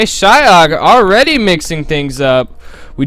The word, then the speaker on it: Xiaokk: Shak I know I know Asians pronounce their XI is shy it said like how Americans would do like like make like a q noise if that makes any sense but it's Shak anyway shyak already mixing things